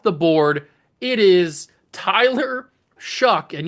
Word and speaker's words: Shough: It is Tyler Shuck. And yes, I'm pretty sure that's how you pronounce his name. Shuck.